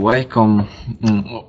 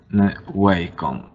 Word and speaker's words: Wacom: Czyta się Wacom, whatever, myślę, że to poprawne czytanie, ale to są tablety, które są najlepsze jakościowo.